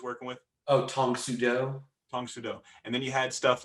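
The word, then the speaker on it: Tang Soo Do: that he was working with oh tom sudo tong sudo and then you had stuff like kenpo what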